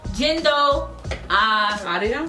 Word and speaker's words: Jindo Arirang: Jindo Arirang.